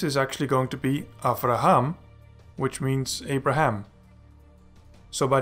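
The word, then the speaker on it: אַבְרָהָם: know that this is actually going to be after Ahom which means Abraham so by the end of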